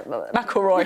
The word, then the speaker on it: McIlroy: I had to learn how to pronounce Rory McIlroy. Yeah, McIlroy.